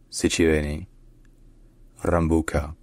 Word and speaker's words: Sitiveni Rabuka: prime minister of Fiji locally in Fijian his name is pronounced sichu Ruka C Ruka CI Ruka Ruka all right if